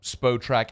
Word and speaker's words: Spotrac: For a long time, I think I said SpotRack, and then y'all told me, no, it's SpoTrack, but do you know what it is?